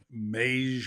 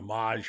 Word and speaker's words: Mage: And the three women who had Mage or Maj, however you want to pronounce it, the 8-horse.